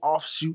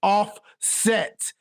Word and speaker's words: Offset: Stop mispronouncing names and calling people offshoot instead of offset. It's offset. Offset. Offshoot. Not offshoot.